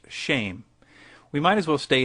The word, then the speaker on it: Shem: for name, which is Shem, pronounced shame.